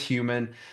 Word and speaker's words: Hueman: It's intentionally misspelled, but it's not that complicated to say. So it is Hueman.